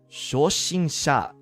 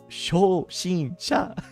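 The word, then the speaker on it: 初心者: It's like shoshinsha. What is that? Shoshinsha. Beginner. It's beginner. Shoshinsha. It's kind of funny sounding. You know, because it's like shh, basically 3 times. It's like shush.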